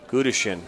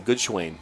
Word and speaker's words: Gudishin: You'll see number 8, Luke Joseph, step off, and Gudishin. That's how they pronounce it, Gudishin. Gudishin. I was saying Goodschwain, so I was way off.